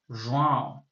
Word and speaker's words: João: I mean, I can't pronounce his name properly nasally every time when I'm speaking English. Okay. So João, João. It's harder than it seems. Like I know how it's supposed to sound, but anyway, Vivian finishes